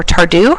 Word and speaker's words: Tardieu: There's the Tardieu measurement. Please pardon my French, or Tardieu. I've heard some people pronounce it.